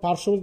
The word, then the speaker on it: পার্শ্ববর্তী: যেমন পার্শ্ববর্তী, তোমরা দেখো এখানে রেফের সাথে তালবস্য যুক্ত আছে, এর সাথে আবার যদি ব ফলা যুক্ত হয়, তাহলে ব ফলার উচ্চারণ হবে না।